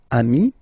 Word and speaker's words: amis: Even if you've got to write the S, then you don't pronounce it, okay?